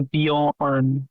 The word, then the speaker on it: Bjorn: The J takes the Y down. It's a Bjorn. You're pronouncing it the French way.